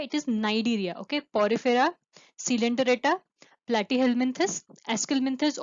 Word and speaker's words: Cnidaria: Here it is also called Cnidaria, but C is silent here. So it is not Cnidaria, it is Cnidaria.